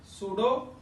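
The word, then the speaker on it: pseudo: PESEUDO, सूडो unimolecular reaction, सूडो unimolecular reaction. सूडो, P silent over here बेटा, clear है।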